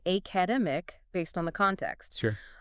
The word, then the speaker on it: academic: I put a heavy stress on the second syllable. Right, and to a native ear, that immediately signals a disconnect. The stress must be in the middle of the word.